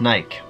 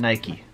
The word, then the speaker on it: Nike: says and I ke is pronounced Naik and not Nike my life is a